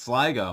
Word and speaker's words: Sligo: now just recently learned, is pronounced Sligo, not Sligo like the Pokemon.